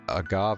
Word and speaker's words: agave: day an evening at the place where the Agave had blossomed oh by sheer coincidence the two